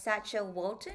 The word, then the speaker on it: Sacha Walton: So, Sacha, I pronounced your name as Sacha Walton.